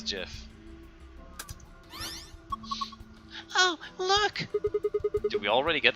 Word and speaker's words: GIF: and just discuss about why is it jiff and it is jiff oh look we already